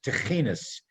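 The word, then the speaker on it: תחינות: Many of them are called, the Yiddish word is techinas. Now, those of you who eat Mediterranean food and you think of tahina, I'm not talking about hummus and tahina. It's techinas. It's a Yiddish pronunciation of a prayer, a particular type of prayer.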